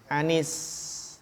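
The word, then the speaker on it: عن: Anis. Kan secara asal an ya. An, huruf jar. Tapi kalau an bertemu dengan alif lam, maka sukunnya diubah menjadi apa? Kasroh, bagus.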